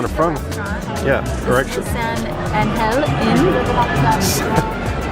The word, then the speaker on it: San Angel: San Angel Inn. That's how they pronounce it. San Angel. For those of you English-speaking people, it's San Angel.